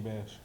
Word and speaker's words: Bash: Is it Bash or Bosh? King Bash. All right, Bash. so say King Bash. King Bash. Give me that. Say Bosh. King Bash.